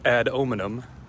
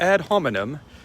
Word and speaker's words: ad hominem: the ad hominem fallacy or as my college logic and rhetoric teacher called it ad ominom which i'm always compelled to pronounce it that way and i've never heard anyone else call it that but the ad hominem